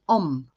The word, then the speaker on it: Ogham: I'm going to pull, it's spelled Ogham, but it's actually pronounced Om, which is really cool.